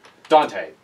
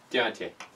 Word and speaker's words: Dante: I say my name Dante it's not Spanish Dante you have said that